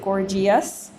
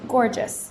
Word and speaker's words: gorgeous: we don't pronounce it gorgias we pronounce it gorgeous because the e is borrowed to change the g into a soft g outrageous same thing and